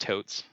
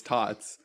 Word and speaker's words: Tots: I think it's pronounced totes totes cook no no it's tots there's no e it's taught school cook